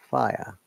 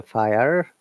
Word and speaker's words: fire: And definitely this is according to British English, but American will say fire because R should be pronounced. Because they are rhotic English speaker, and whereas British English is non-rhotic English. Rhotic English, US, and non-rhotic UK.